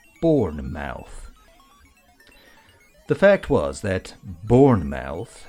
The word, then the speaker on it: Bournemouth: Bournemouth. He tried saying the word out loud. He said it in two distinct syllables. Born and mouth.